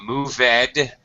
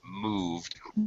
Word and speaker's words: moved: past tense but then you mispronounced it not moveed but moved because we moved okay